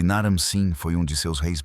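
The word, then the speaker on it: Naram-Sin: E Naramsin foi um de seus reis mais poderosos. Naramsin, cujo nome também pode ser pronunciado Naramsin, já era um grande guerreiro quando ascendeu ao trono.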